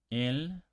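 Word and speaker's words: él: So for example, el, the, el with an accent, they are pronounced exactly the same.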